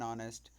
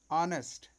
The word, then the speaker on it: honest: that the word are honest here begin with a vowel sound any vowel sound as the initial consonants h is not pronounced a yard a horse